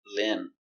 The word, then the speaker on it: limb: Remember, no B, limb.